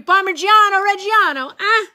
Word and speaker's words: Parmigiano Reggiano: Parmigiano Reggiano. Yes. Thank you. I get a star for great pronunciation.